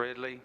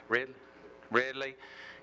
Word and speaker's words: Ridley: chairman this is an interim this is all this is it's an opportunity I know that mr. Ridley Riley is that's we pronounce his name red red Lee came to the office